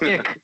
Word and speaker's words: iQ: really the C IQ which is pronounced ick by the way oh I'm not doing